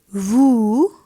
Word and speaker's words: vous: Next is il, which is he, elle, which is she, nous, that is we, vous. We are not pronouncing S over here, and it is nous, vous.